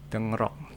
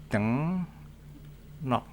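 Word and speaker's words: 등록: Ada lagi misal dengnok. Tulisannya ini dengrok tulisannya. Ini artinya registrasi atau pendaftaran. Ini secara tulisannya dengrok. Tapi kalau dibaca menjadi dengnok, di mana R-nya berubah menjadi N.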